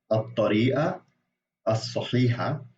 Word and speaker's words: الطريقة الصحيحة: and moon letters, like some letters when you have the al article, the lam kind of disappears and it gets fused into the next letter, which happens with both of these words.